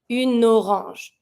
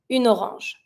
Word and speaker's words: orange: Une orange. So that when you're going to be pronouncing it, it's going to be smooth and easy to say. Une orange.